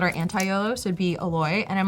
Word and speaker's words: Oloy: Like, so the actual pronunciation of YOLO is Oloy, because that's actually my name backwards.